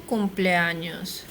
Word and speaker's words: cumpleaños: It's not an N, it's an ñ.